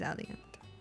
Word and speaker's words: Alliant: available through Al Alliant is it aiant or an Alliant how do you say Alliant Alliant I want to say Aliant it is Aliant wait the aliance like Alliance Alli okay that's how I